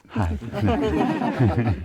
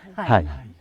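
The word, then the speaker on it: حي: Peux-tu le prononcer, s'il te plaît? Moi, je le prononce bien. Hai. Merci. Hai. Et c'est avec un H.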